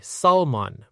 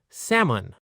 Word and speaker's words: salmon: This word has a silent L. A lot of learners say salmon, but native speakers say salmon. Let's practice. Sam un together.